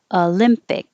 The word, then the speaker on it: Olympic: not just o tokyo olympic and for the final k i'm going to hold my tongue here for the k instead of olympic but